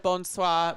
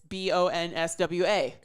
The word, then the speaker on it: bonsoir: So instead of bonsoir being BONSOIR, it's BONSWA. Bonsoir. Bonsoir.